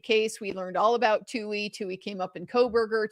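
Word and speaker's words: Touhy: It's spelled T O Uh-hy.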